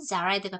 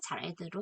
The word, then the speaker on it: Jared: 원어민에 따라서는 Jared라고도 읽어요. 그런데 저는 Jared가 편해서 Jared로 하겠습니다.